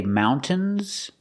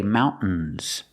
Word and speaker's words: mountains: people say mountains and some people say mountains both are correct so you can pronounce a t and say mountains T mountains or you can use a stop T and say mountains use a stop T Mount and then you fall to the end mountains mountains the cabin